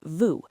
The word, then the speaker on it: vous: Right, the word for that is vous, v o u s.